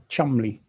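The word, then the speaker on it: Cholmondeley: is spelled it's spelled Joel mandley but it's pronounced chamley but I'm just pointing it out to somebody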